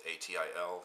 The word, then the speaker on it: Atil: So for many years they traded with the caliphate there in the city of Atil, I think is how you say it. It's Atil.